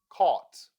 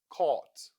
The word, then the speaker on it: caught: Caught. Augh in this word sounds augh. Caught.